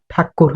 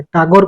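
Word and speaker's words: ঠাকুর: हला जाहाकू कि रविंद्रनाथ ठाकुर हला या ठाकुर तांको ना हला जेतु इंग्रज माने कोन करथिले तांको पाटी रे पोसेनी टिके हला से प्रोनाउंस करि परंतले ठाकुर को कोन से कहथले टागोर कहथले जेहेतु तांको ना कोन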